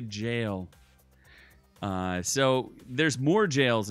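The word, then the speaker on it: gaol: mispronunciations there in that good old Elden ring if you run across a g you know a go it's really a jail uh so there's more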